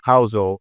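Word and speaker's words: Housel: And one of my favorite books is a book by Morgan Hzo. It's called The Psychology of Money. In Morgan's last name is spelled h o u s eel.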